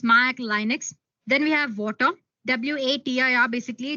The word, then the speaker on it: Watir: Then we have Water. WATIR, basically, it's pronounced as Water, is an open source testing tool made up of Ruby libraries to automate web application testing.